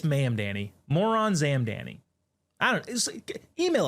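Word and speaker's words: Mamdani: Our first iteration of official business comes from none other than Zoron Mandani, which I actually think I may have. No, it's not how you pronounce it. It's Mam Danny.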